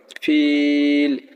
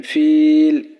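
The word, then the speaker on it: فيل: জের উচ্চারণ করবো না ফিল শুধু লামের উচ্চারণ নিয়ে আসবো কিন্তু জেরের উচ্চারণ করবো না যেমন ফিল শুধু লাম আসতেছে আশা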